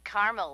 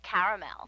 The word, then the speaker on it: caramel: it in Carmel actually you said Carmel when it's pronounced caramel can't we just call